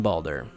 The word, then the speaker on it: Baldur: I'm sure I'm going to be butchering all these pronunciations anyway. Let's start with Xehanort's classmates. The first two are easy, Bragi and Baldur.